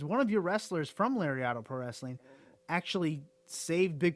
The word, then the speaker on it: Lariato: And I was going to touch on your promotion, your Lariato Pro Wrestling, I believe, right? Is that how you say it? Yep, Lariato.